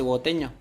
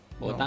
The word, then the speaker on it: bogotano: ¿Bogoteño? ¿Bogotano?